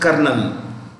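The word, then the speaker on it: colonel: write it here general this is pronounced kernel and this is luterin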